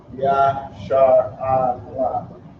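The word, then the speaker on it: ישראל: But it's pronounced Ya-Shar-A-La. Ya-Shar-A-La. And you can almost tell already which ones are connected and which ones isn't. So you have the Ya first, the Shar, the A, and the La.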